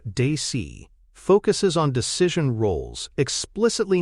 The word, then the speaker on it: DACE: DACE, pronounced Dacey, focuses on decision roles,